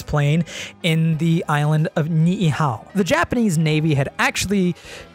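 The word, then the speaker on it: Niʻihau: what i could find the way to pronounce it the ni'ihao incident occurred during the days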